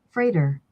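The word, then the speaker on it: Frater: how you pronounce it is it freighter or frauder or something else freighter freighter freighter okay freighter cool i'm glad we did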